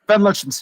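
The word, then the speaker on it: Van Lutyens: And they're just like, "Yeah, Van Lutchens." Sorry. Is it actually pronounced Van Lutchens? Van Lutchens. Yeah. Yeah. Cuz he's Dutch, man.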